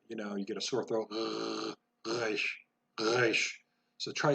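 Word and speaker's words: רֵישׁ: Resh most of the time is pronounced back of the throat. Almost like you're gargling salt water, you get a sore throat. Resh, resh.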